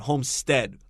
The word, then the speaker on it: homestead: at the word homestead one e it's a short e sound homestead like instead homestead um our next sentence